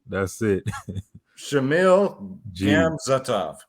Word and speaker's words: Gamzatov: Shamil Gamzatov. Gamzatov.